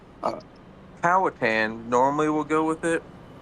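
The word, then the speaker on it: Powhatan: How do you say my hometown is Pawatan? Uh, Powatan normally will go with it, but I did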